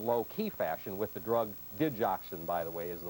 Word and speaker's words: digoxin: being treated in low-key fashion with the drug digoxin by the way is the way it's pronounced doctors often simply refer to it as